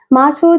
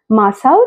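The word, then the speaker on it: マサオ: মনে হতো যেন মহিলা সব সময় ওর ছেলেকে খুঁজছেন, মাসো চান, মাসো চান বলে। কিন্তু জাপানি ভাষায় উচ্চারণটা হওয়া উচিত ছিল মাসাও চান।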